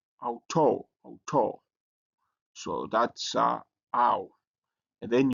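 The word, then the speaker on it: αὐτό: And the next one is ow. So how you pronounce it as in out. So you have this word here, auto, auto.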